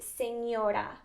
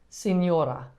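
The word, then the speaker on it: señora: next word is misses that one would be senora signora you say senora okay and then for someone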